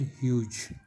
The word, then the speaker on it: Hughes: ह्यूज spelling देखिए HUGHES, ह्यूज, pronunciation ह्यूज है।